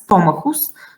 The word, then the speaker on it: stomachus: So the only example I can think of, that's stomachus. So vowel of the second A followed by the graph CH. Stomachus, the accent is here. And in English, stomach, the accent is on the same place, so there is nothing difficult here.